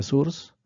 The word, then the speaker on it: source: bueno la palabra fuente también en inglés se pronuncia surs entonces surs pues empieza